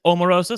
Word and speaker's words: Omarosa: By the way, they did ask her how to say her name. She said it thank you for asking. It is Omarosa.